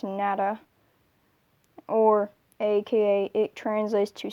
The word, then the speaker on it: Natter: on the ba 349 nada or nature but in german it's nada or aka it translates